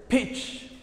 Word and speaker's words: pitch: تقرين إياه this word pitch this letter which T is silent here كلمة pitch كلمة حرف